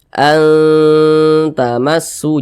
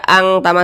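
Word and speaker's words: أَنْتُمْ: samarnya itu dia tinggi kita baca an tamu Jangan dibaca Ang tamu jangan tapi dibacanya itu kita tahan kita panjangkan sejenak karena dia didingungkanu seperti itu kemudian su dibaca panjang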